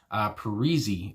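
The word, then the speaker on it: Paresi: last name, and then I looked up how to say it, and apparently it's like Andrew Parisi is what it said.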